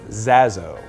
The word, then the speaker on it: Zaso: It's Zaso.